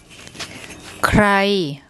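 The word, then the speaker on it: ใคร: Here we have the K initial consonant, followed by an R consonant, kor kwai ro rua. Written together, they make a KR consonant cluster. So we have KR and then the short I.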